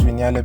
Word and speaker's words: Vignale: And yes, it's pronounced Vignale because I googled it.